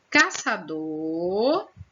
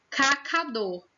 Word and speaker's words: caçador: Caçador ficou como? Cacador. E paçoca ficou pacoca.